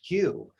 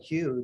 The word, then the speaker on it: Hu: Many people aren't aware that Atum, who is the original God that created the universe, it is said, sang this note, Hue, that's spelled H-U.